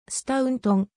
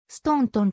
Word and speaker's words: スタウントン: いるスタントンは初音声はスタウントンまたはストーントンと読むのが正しいが本稿では